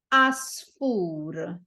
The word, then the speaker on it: għasfur: at the start but because it is silent in this case you don't pronounce it okay so the word